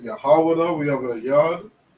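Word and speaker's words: יהודה: Okay, we pronounce it Yahawada. And we would spell it like this. Okay, we have a Yah, a Ha, a Wa, a Da, and a Ha. Yahawada. Okay? This is the correct spelling and the correct pronunciation of Judah. Okay? Judah is English, this is the Hebrew, Yahawada.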